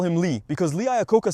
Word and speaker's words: Lee Iacocca: Lee Iacocca, let's just call him Lee, because Lee Iacocca sounds a bit strange to me. It's only strange because you don't know how to pronounce it, Anthony. It's pronounced Lee Iacocca, you uncultured, ignorant car fan.